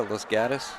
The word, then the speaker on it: Los Gatos: As they pronounce it out there, Los Gatos. That's how he pronounces it, Los Gatos.